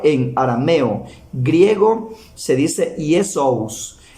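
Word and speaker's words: Ἰησοῦς: Dice que en arameo se pronuncia Joshua, en arameo es Joshua, en griego es Iesous, en griego se pronuncia Iesous, en latín Iesus, y dice que en español es Jesús.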